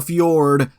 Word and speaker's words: fjord: road except it isn't you're thinking of a fjord and it's pronounced Fjord uh no good luck trying to